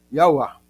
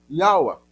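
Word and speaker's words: יהוה: Yauá. Perceberam? Essa é a pronúncia. Yaua. Percebe-se que o V, na realidade, não se pronunciaria na língua hebraica.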